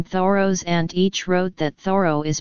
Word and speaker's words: Thoreau: name should be pronounced the row with the H sounded and stress on the first syllable among modern day American speakers it is perhaps more commonly pronounced th row slash theta ro slash